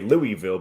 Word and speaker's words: Louisville: got booed for his pronunciation of he's he pronounced Louisville the correct Way Louisville but people around here obviously don't like that